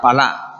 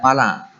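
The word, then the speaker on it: פלא: Bueno, hay que incidir en el hecho de que la palabra ocultas en hebreo es una palabra que se pronuncia palá, es la palabra hebrea palá, y significa, por ejemplo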